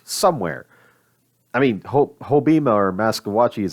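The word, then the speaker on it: Maskwacis: I mean, Hobima or Maskawachis, I think is how you pronounce it now, is a perfect example of a chief system that actually knows what they want.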